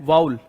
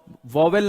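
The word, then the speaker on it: vowel: यहां पे ये आर से पहले एक वाउल है, क्या है, वाउल, वॉवेल नहीं, वाउल है, तो वाउल है तो उसके जस्ट बाद अगर आर आ रहा है तो वो आर प्रोनाउंस नहीं होगा, ओके।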